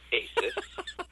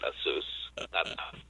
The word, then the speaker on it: Asus: It's Asus. It's Asus. Not Asus. Not Asus.